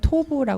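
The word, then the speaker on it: טוב: 토부 보 보시기 좋았더라는 그 히브리어가 토브라 발음을 하는데요 반복 단어가 나옵니다 좋다란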